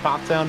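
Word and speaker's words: Pfafftown: of pathtown North Carolina yes that is how it is pronounced for those who are unaware uh there are a lot of eps there it can trip you up but pop down is is the way and wing it not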